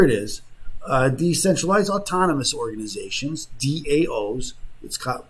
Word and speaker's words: DAO: So here it is: decentralized autonomous organizations (DAOs). They pronounce it DAO, like the Dow Jones Industrial, but the DAO